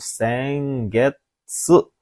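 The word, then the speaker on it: 先月: Untuk kanji nomor 8 ini ya bacanya adalah pilihan ke-4 minasan, yaitu sengetsu. Hai, apa arti sengetsu itu? Jadi bacanya sengetsu.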